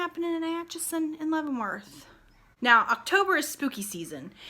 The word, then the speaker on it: Leavenworth: Leavenworth.